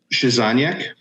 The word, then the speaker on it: Krzyzaniak: How do you pronounce it? Krzyzaniak.